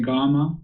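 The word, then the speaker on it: kamma: Again, though, when you say it, it's like with a G, but it's spelled with a K. Yeah. Should I pronounce it like a G if I want to do it the Pali Canon way? So say gamma, not karma.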